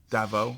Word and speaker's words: Davao: How do you pronounce that? I want to make sure I'm Yeah. getting this right. Dav Davao. Davao.